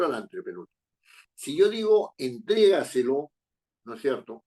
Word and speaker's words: entrégaselo: la si yo digo entrégaselo No es cierto entrégaselo entrega se lo penal la palabra compuesta no entrégaselo la fuerza de voz está en tres porque yo le digo